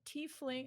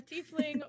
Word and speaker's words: tiefling: I'm a warlock uh I'm a t fling I think that's how you pronounce it a tiefling warlock uh and I do